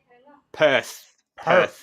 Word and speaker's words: Perth: Oh, how do you spell that? P-E-R. Perth.